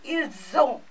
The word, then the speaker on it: ils ont: This becomes ils ont and this becomes ils sont. So, S remains S, and this O combined with S becomes Z.